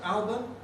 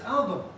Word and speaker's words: album: But people who speak Spanish seem happily to say it as, in English, as album, album, and that sounds wrong to us, because it isn't album, it isn't album, it's album.